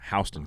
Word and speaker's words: Houston: before the eye what like house h-o-u-s-e like houston that's that's how it's pronounced houston county but it you